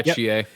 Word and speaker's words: Chie: Yeah, Chie.